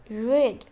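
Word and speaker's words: read: सेट जोड़ना सेट सेट रेड छुटकारा पाना रेड रेड पढ़ना रीड रीड रीड और इनमें से एक अलग है सेकंड फॉर्म इसकी कहते हैं हम उसको रीड स्पेलिंग वही है लेकिन कहते हैं रेड रखना पुट पुट पुट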